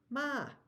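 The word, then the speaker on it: หมา: Ma, ma. It's the same word. It's not actually spelled the same. But in Thai, ma, where we go down and up or rising, is dog.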